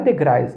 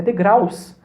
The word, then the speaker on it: degraus: alguém me corrigir e falou assim não Rogério não é degrais é degraus você tá aí eu fui